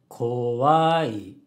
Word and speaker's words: 怖い: Kowai has a low, high, low pitch pattern.